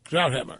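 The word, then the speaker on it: Krauthammer: Kelly on Fox she had Dr crammer on but what I pronounce his name that way it's because how Henry Kissinger pronounced it to me one time he asked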